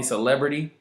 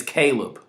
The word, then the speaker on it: Caleb: he was there when somebody mispronounced my name for the billionth time you called me celebrity my name is Caleb they called me celebrity